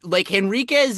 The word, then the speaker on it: Henriques: Well, I feel like Henriquez is like the actual Portuguese pronunciation, which Moses Henriques is, but like the Australian pronunciation would probably be Henriques. And it would be wrong.